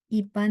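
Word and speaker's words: 一般: Ipan yang tadi di textbook kita, ini tulisannya beda. Pan. Karena pan ada 1, dia I-nya ada 4.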